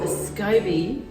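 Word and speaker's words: SCOBY: to need a Scooby Scooby it's spelt SC oby and it stands for symbiotic culture of bacteria and yeast yeah yeah terrible but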